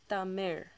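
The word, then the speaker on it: தமிழ்: the actual uh language itself Tamir it's actually pronounced as Tamir okay it ends with that raw sound um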